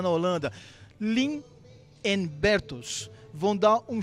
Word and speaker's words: Leen: And it's Leen, not Len. Leen.